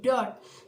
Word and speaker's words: dört: Jadi pengucapannya dört. Jadi O-nya itu ada titik dua di atas.